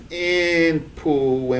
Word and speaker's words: Inpu: So then we see Inpu, Inip, right? Which we pronounce as Inpu, and we know it because of the determinative.